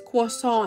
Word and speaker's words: croissant: And grabe tingnan niyo naman 'yung itsura ng croissant na 'to. Or sabi nga nila sa French daw ito is quissant.